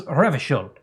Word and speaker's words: Revachol: He pronounces Revachol with a hard K, unlike most people.